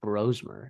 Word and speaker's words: Brosmer: let's talk Max brosmer and yes that is how it's pronounced I believe listening to the main